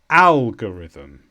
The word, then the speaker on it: algorithm: a noun and the stress is on ow algorithm and this is a pattern that you follow